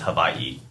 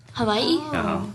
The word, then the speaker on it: Hawaii: takes away the acidity it's properly uh properly pronounced annunciate is Havi Havi there's Aina in there that separates it to make that Havi sound and the W's are V's yeah our sound guys